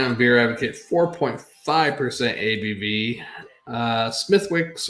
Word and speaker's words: Smithwick's: Smithwick's or Smidwick's, like a D in there almost, the way they pronounce it, is a clear beer